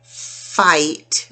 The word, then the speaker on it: fight: Oh no, you don't want to fight with anyone. Fight. So I-G-H, another quick lesson. I-G-H, the G-H is silent, and you only hear a long I.